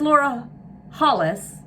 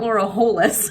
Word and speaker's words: Laura Hollis: I realize I've been saying that word wrong, incorrectly, for a very long time. I think I always say Hollstein (chuckles), but it's Laura Hollis, it's not Laura Holis.